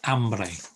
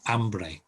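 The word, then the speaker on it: hombre: is isn't humbly it's ambree ambree forget the h completely i is another letter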